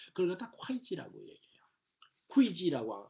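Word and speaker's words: 會稽: 회계. 예. 그거는 우리가 회계장부라고 하는 말 쓰잖아요. 예. 이게 회계거든요. 그냥 우리는 회계라고 발음을 하거든요. 회계라고 발음을 하는데 중국 발음은 이건 콰이지라고 발음해야 돼요.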